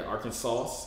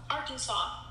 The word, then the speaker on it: Arkansas: everybody that lives here why we don't pronounce like the s's yeah arkansas i don't get why